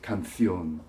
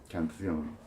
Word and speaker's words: canción: For example, canción, song, in Spain is canción, canción.